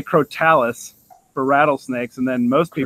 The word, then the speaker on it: Crotalus: oh so damn fast it sounds cooler to say crotalus but it's I mean I think their correct pronunciations crotalus and once you go through a lot of those kind of names you start realizing that a lot of them are just said kind of fast and team's always be